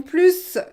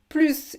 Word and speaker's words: plus: You need to know that. And if you don't know why, you have to watch my video about plus. Plus, if you don't pronounce the S, this will mean no more. Nous avions plus, no more. Nous avions plus, more. So one letter and the contrary.